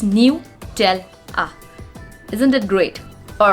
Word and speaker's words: Nutella: is the pronunciation mistake when we pronounce nutella it's new tell ah isn't it great all